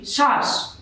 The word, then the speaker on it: শ্বাস: আমরা যদি লিখি শ্বাস, তো এখানে আমরা দেখতে পাচ্ছি তালব্য স ব এর সাথে যুক্ত অবস্থায় আসছে, সুতরাং এই তালব্য স এর উচ্চারণ তালব্য সই হবে।